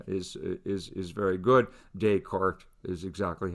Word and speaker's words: Descartes: descartes or descartes no there's no accent on the e susanna so it's the former it's french and when you see